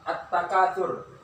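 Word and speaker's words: التكاثر: Ta langsung kita baca ta, la-nya tidak dibaca. Langsung masukkan ke ta.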